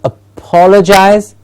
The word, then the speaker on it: apologize: The next one, apologize. Apologize. Notice I am stressing the per, apologize, but I'm still not saying apologize.